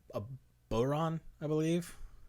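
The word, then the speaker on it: bodhrán: Nah, I don't think they pronounce the D. No. Bodhran. Yeah. I think it's just a vocal sound with a r in there somewhere. I should know this shit, but Celtic is like that language.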